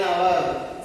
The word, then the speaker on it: hour: Next, we reached dash hour ago. An hour. Silent H also we are using.